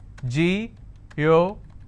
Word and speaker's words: geographic: And the rule says if I have a word ending with IC, I need to stress on the second last syllable. So I'll pronounce this as geographic. If I have another word, photographic, somebody has a photographic memory. So what are the syllable break? It's pho-to-gra-phic. And since it's ending with IC, I will stress on gra.